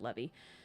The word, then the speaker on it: Levi: I'm pretty sure he pronounces it Levy.